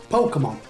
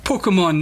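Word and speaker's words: Pokémon: that he's heard, and hopefully we'll hear him pronounce it properly. Pokemon. That's how I'd say it. Pokemon. Pokemon, that's how Sean's going to pronounce this particular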